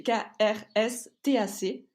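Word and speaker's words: Krstač: un vin qui s'appelle stack c'est compliqué à prononcer c'est krstac et en fait c'est cultivé donc à côté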